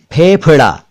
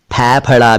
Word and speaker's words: फेफड़ा: और देखिए, फेफड़ा, इसे फेफड़ा भी ना कहें और फैफड़ा भी ना कहें, यह है फेफड़ा।